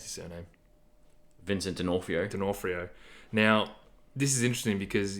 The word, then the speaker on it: D'Onofrio: Vincent How do you pronounce his surname? Vincent D'Onofrio.